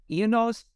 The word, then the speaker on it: Ianos: research study was called am I saying it right ionos is that the right way to say yes okay yes so you title it ianos a hurricane in the